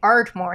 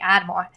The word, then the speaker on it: Ardmore: She's from Ardmore because that's how you say it in Pennsylvania. You say Ardmore. You don't say Admore.